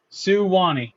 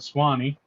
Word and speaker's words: Suwannee: Suwannee. Okay, so I was way off because I said Swanee, Shawnee or whatever.